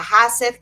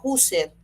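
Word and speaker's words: Husserl: Si yo voy a hablar, por ejemplo, de la fenomenología, ahí no puedo dejar de nombrar a Heidegger, a Hasser, que se pronuncia Huser. Hazer, pero se pronuncia Huser.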